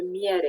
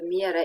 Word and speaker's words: miere: And finally, we have the IE, the EE, Romanian EE, pronounced in the same syllable. I hesitated because we have the same group which is not pronounced in the same syllable, but we'll learn about it a bit later. So EE, ye, as in iepure, or miere, iepure is rabbit, and miere is honey. A bit like YE in the English yes.